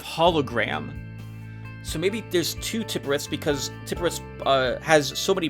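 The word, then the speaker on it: Tiphereth: Teperith.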